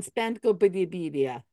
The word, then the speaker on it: Spencopedia: Have you read the Wikipedia on Spencopedia? It rhymes with Wikipedia. It's not that hard.